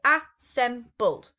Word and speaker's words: assembled: is to assemble now assembled in past tense is three syllables so a sem buld okay if it was